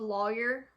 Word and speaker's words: lawyer: So, how do you pronounce the first syllable of lawyer that rhymes with boy or rhymes with flaw?